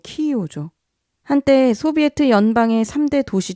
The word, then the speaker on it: 키이우: 지금은 러시아와 전쟁 중인 우크라이나의 수도 키예프, 아니 우크라이나 발음으로 키이우죠.